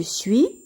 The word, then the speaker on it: suis: suite je suis je suis ici le s ne se prononcent pas tu es e s